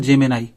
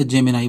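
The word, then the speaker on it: Gemini: एन आई जेमिए ठीक Google जेमिनाई जेमिनी भी बोलते हैं या जेमिनाई बोलते हैं इसको Google जेमिनी आ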